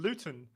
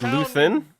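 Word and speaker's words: Luthen: Yeah, you keep calling him Luton, which is It's Luth.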